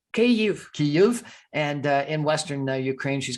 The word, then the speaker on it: Kyiv: She's got family members both in the capital city, which is correctly pronounced Kyiv, and in Western Ukraine, she's got her parents.